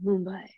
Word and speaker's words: Mumbai: Mumbai.